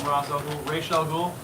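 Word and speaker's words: Ra's al Ghul: going to see I refuse to call him razel ghoul yeah no you're pronouncing it right thank you thank you for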